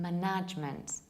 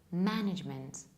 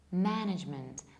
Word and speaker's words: management: personal head's 90% of Polish and Slovak people pronounce this word like the management or management so they stressed the wrongly and they pronounced a wrong sound whereas the correct pronunciation is management management the stress falls on the first level and